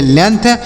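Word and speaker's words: length: याद रखिएगा इसे legend L ई एन जी टी एच तो एल से लिखेंगे ल ई से एक ही मात्रा यन से नौ जी का उच्चारण नहीं होगा टी एच से थ तो इसे लिखेंगे लेंथ लेंथ मतलब क्या होता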